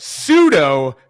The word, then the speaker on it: pseudo: You just have to pronounce the word pseudo correctly. P-S-U-E-D-O. It does not spell the word Suedo.